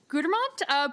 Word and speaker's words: Gudermont: Next on my list is Commissioner Rick Gudermont. Please correct my pronunciation of your name. Spot on.